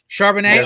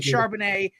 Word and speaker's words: Charbonnet: guy's last name Zach charbonnet okay it's the French pronunciation okay because I saw